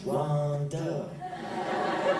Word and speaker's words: Ronda: oh man it's not man you're saying it wrong it's not Rhonda it's Ronda damn oh in my pet